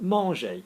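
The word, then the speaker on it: manger: the verb to eat Margie the ER is silent yeah so this word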